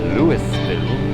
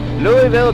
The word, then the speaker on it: Louisville: live from Louisville Kentucky took me a couple of times to learn how to pronounce that correctly I was calling it Louisville much to my sh Louisville Kentucky future home of